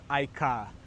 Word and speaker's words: iCaur: So to get around it, what Cherry has done is that they've changed the spelling of the word, but they've not changed the way it's pronounced.